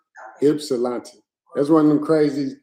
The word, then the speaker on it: Ypsilanti: Hey, look, I want to tell y'all how to pronounce Ypsilanti. There you go, Ypsilanti Township, Michigan. That's how you pronounce it. Ypsilanti. Okay. Ypsilanti.